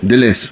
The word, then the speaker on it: Deleuze: ¿Estoy pronunciando bien? sí. Deleuze.